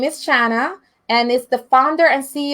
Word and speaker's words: Shana: So it's Shana. Shana, like in Spanish, Shana.